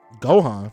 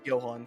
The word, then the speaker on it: Johan: Gohan, like Gohan and Piccolo. Is that how you say his name in Monster? I forget. Gohan? No, I never. Johan, yeah, it's Johan.